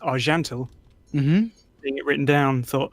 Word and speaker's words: Archantael: pronounced it wrong because it's a Celtic name and it's meant to be pronounced are gentle mm-hmm it written down thought oh it's I can tell and it's not so